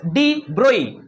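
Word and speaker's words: de Broglie: The French physicist नाम था Lewis डी ब्रोई। ब्रोगली लिखा हुआ है। जी साइलेंट होता है।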